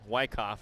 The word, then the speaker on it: Wyckoff: frames okay so I got the pronunciation of Wyckoff wrong Wyckoff is how you say her name thank you Katie Hokinson